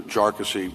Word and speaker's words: Jarkesy: And by the way, it's pronounced jarassy uh not not a number of other ways that that it's been pronounced by by many.